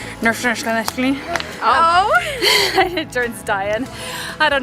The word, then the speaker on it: Neuschwanstein: This is how you pronounce it. Neuschwanstein. Neuschwanstein.